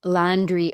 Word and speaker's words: Landriault: And my last name is Landreo O L A N D R I. And this is where it gets tricky. So, we don't pronounce the L T at the end.